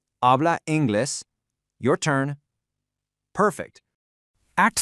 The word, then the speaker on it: habla inglés: Just keep that silent H in mind right at the beginning and stress the E in inglés where that accent mark lives. Habla inglés.